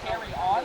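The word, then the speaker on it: Carillon: Um, and if you're looking to pronounce it, I always say keep calm and carry on. It's basically like that.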